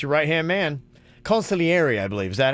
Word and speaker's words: consigliere: That's when you need to call your consigliere. He did. Remember he strangled the one. He didn't know what he did. And he's like, I don't know what I did. And they help him. Ooh. The consigliere does help.